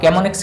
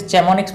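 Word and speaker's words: Chamonix: आप कैमोनिक्स की स्पेलिंग कई बार CHE भी यहाँ पे दे दी जाती है, तो टेंशन मत लो, कैमोनिक्स ही रहेगा, ठीक है। इसे चैमोनिक्स मत बोलना।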